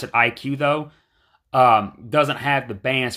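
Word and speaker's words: iQOO: available is the vivo IQ IQ oo they pronounce it IQ though doesn't have the bands for the US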